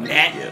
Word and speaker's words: Gnat: Is it called Nat? I guess the G is silent.